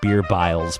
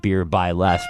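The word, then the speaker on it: BeerbyLes: At first, I was pronouncing it at Beer Biles, but I realized that his name was Les, and so at Beer by Les probably means he makes beer, I'm guessing, or drinks it.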